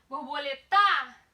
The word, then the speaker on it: borboleta: Borboleta tem a sua penúltima sílaba como sendo a mais forte. Se a penúltima é a mais forte, eu tenho uma paroxítona.